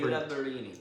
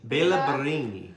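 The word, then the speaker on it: Béla Barényi: Bela Barini. Bela Barini.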